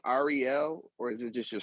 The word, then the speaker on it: Ahriel: I love my name, I always loved how it was supposed to be pronounced, which is Ahriel. But whenever anyone sees my name written as it is, it was always, Ariel, like the Little Mermaid.